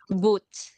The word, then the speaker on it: boot: How do we pronounce it? Boot.